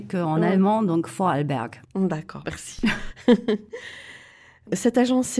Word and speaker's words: Vorarlberg: le prononce ton bon moi je peux le prononcé qu en allemand donc vorarlberg bon d'accord merci cette agence est né dans